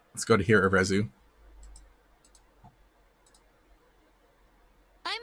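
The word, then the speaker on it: Arezu: I'm Arizu. I'm a warden of the Diamond Clan. Arizu. I'm Arizu. I'm a warden of the Diamond Clan. All right, so I guess we have the official pronunciation too.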